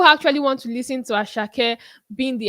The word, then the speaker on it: Asake: we used to know the deeply rooted African Nigerian asak not the ashak that is coming to sing with us with some UK accent and you know pronouncing his name in some funny way so I think people